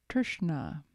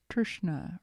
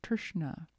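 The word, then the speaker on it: तृष्णा: It's Trishna. T-R-S-N-A. Trishna or Trishna. In Sanskrit, sometimes the R can be a vowel.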